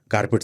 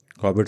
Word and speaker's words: Corbett: कॉर्बेट साहब को लोग कारपेट साहब बुलाते थे, नहीं बोल पाते थे प्रोनाउंसिएशन, गांव के लोग थे।